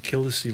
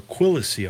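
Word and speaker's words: Quilici: We had some issues with that, pronouncing that name, Killisey, last time. or Quillacy, I'm sorry, Quillacy.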